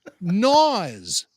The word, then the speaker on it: Swank: But Swank is Naws backwards. The K is silent.